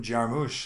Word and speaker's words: Jarmusch: don't die is Jim Jarmusch sure Jim Jim hush I don't know I hear people pronounce his name last name put the emphasis on the moosh Jim Jarmusch there you